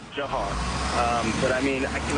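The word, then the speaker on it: Dzhokhar: I can't believe it is pronounced. Jahar. Why is that Jahar? As far as I know, that was his name. I mean, we all addressed him as Jahar.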